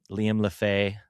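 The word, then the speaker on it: Lefebvre: But Liam Lefay, which is kind of a crazy way to pronounce it. It ends with BVRE, but that's the French.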